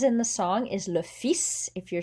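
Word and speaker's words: fils: the song is le fis if you're saying your son as in your male offspring le fis you actually do pronounce the s but that is an exception normally you don't pronounce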